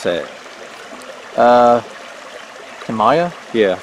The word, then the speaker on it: Tamaya: to keep it from getting ripped how you pronounce that uh Tamaya yeah like Tamaya blue corn pancake mix 12 ounce bag whole